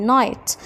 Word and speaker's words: night: في كلمة night الجي اتش silent يعني اكتبهم وما انطقهمش، والاي طويلة night يعني انطقها باسمها. حرف الاي long اي يعني طويل ينطق باسمه. هنلاقي ان لما يبقى عندي اي جي اتش، الجي اتش مش بتتنطق والاي بتتنطق باسمها يعني long اي.